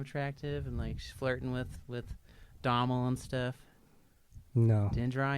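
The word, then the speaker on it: Domhnall: I believe you pronounce it Dommel. Dominal? Are you sure? Is the H silent? Pretty sure, as far as Irish names go.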